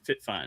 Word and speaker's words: FitFine: FitFine is how you pronounce it.